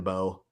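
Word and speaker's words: Mbow: I think they're just going with Marvin Bowe, and the M is silent on his second and his last Marvin name.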